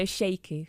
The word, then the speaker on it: Sheku: How do you pronounce his name? So Sheku.